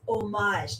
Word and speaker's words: homage: would be a great homage to him homage homage homage homage now you're just being messed I don't need cheese it's omage not fromage omage you don't pronounce the h excited for the new